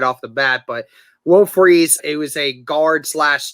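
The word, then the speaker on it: Fries: it to me in the comments it's actually will freeze it's not fry's you know even though it's it's said that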